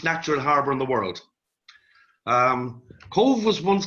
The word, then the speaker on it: Cobh: everybody with the spelling Cobh is pronounced Cove now our exhibition deals with the story of Irish emigration from this harbour three million immigrants left from the harbor of Cove mainly from 80 there